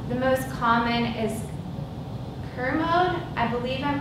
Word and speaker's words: Kermode: The most common is Kermode. I believe I'm pronouncing that correctly. If anyone has heard it differently, please let me know. K-E-R-M-O-D-E.